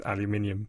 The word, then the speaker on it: aluminium: lots of other ones in Britain they changed it to aluminium and the official International chemical way of pronouncing it is aluminium a bit like the